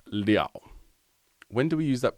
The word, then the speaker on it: 了: He says, in the sentence 吃一个面包饱不了, character L is pronounced liao.